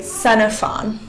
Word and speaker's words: Xenophon: X can sound like the X sound, like in fox, Or the X can sound like an S, like in the word Xenophon. Now, we're going to move into combinations of letters that have specific sounds.